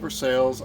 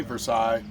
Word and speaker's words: Versailles: is based out of Versailles, Missouri. Yes, they call it Versales. I know the technical pronunciation is Versailles. You go to Versales and you say Versailles, they pretty much know you're not from there.